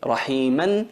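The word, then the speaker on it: رحيما: Rahiman se convierte en rahima. Wa kana bil mu'minina rahima. Esa alif la alargamos durante 2 tiempos, como si pronunciamos 2 letras vocalizadas.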